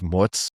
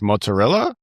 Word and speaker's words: mozzarella: Are you talking about like mozzarella? Yeah. mozzarella and mozzarella. Like one thing, okay, people, let's pronounce the vowels at the end of the words.